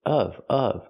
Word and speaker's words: of: She doesn't mean tip off, she means tip of. So, the pronunciation is important here. We have to pronounce it of of with a short closed sound.